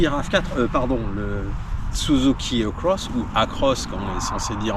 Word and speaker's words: Across: Nous essayons le Suzuki RAV4, le Suzuki Across ou Across comme on est censé dire en français.